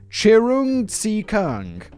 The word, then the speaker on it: Cheung Tze Keung: i hear you all screaming his name was pronunciation guideline chirung see kung a man who ransomed the children of business